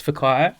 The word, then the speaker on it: Whakaio: Well, it's Whack spelled with a W. So the WH is pronounced F.